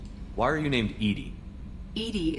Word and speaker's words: EDI: are you named edie edie is the phonetic pronunciation of edi that is an acronym for enhanced defense intelligence yep how are you